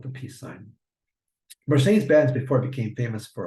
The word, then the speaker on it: Mercedes-Benz: go to show you Mercedes-Benz. In Spanish, it's pronounced Mercedes-Benz. In English, it's Mercedes-Benz, as we all say it.